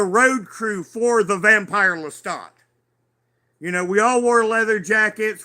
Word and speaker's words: Lestat: Now, it's pronounced in French Lestat, but, most of us phonetically call him Lestat.